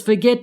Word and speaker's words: forget: Notice how the last syllable is stressed, forget. get is stressed. What does forget mean? I don't remember. Anyway, since the last syllable is stressed, forget, and not the first syllable, we double the final T before adding ing.